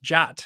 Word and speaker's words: JWT: to pronounce the JWT which is pronounced jot and a lot of